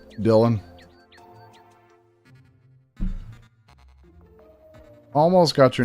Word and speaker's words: Dylan: Dial Dylan almost got your name wrong.